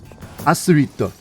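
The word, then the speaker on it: アスリート: But how would you pronounce the word athlete? Asurito. Asurito. Asurito.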